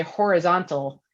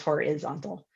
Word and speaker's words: horizontal: eye right horizon and when you say horizontal just because of the additional um uh syllable on the end the vowel changes to a short eye so it's horizontal um and just that small